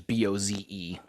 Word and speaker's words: Bose: on my mom's family, it's Bose, which is Boze, and then they have Clough.